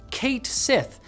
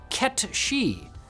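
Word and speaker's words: Cait Sith: sided with fans who pronounced it phonetically in English as Kate Sith dis appointing others who interpreted it as KET shei based on the name's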